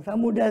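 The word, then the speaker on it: ثمودا: Tapi lihat ada alifnya. Coba lihat di Quran. Samuda itu ada alifnya. Tapi alifnya tidak dibaca wa samuda. Enggak. Bacanya wa samuda.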